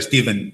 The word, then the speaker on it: Stephen: Eu lle faría pregunta a xente, poría unha película con subtitulados, dun protagonista se chamase Stephen, con PH que se pronuncia Steven igual, que falaran dos Sioux, e logo faría pregunta ao final, faría unha enquisa, como se pronuncia tal?